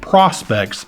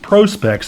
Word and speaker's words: Prospex: I had been pronouncing it Prospex, but it's actually pronounced Prospex as in professional specifications.